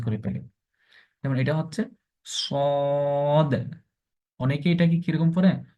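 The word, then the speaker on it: صاد: করে উচ্চারণ করতে হবে একটু মুখকে গুন করে মোটা করে পড়তে হবে যেমন সদ তারপর হচ্ছে তারপর এটা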